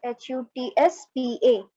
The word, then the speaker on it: chutzpah: तो आप याद रखना कि ये जो CHUTZ जो वर्ड है that will be pronounced as HUTSPA. Okay, chutzpah.